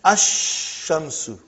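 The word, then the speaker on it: الشمس: And then ash-shamsu. No al, no lam. When I say, I shouldn't say al. I should say no lam. Hamza is pronounced.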